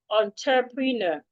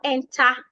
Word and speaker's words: entrepreneur: Unter, if you spell the word has T-R-E. It is not T-E-R. So it is not enter.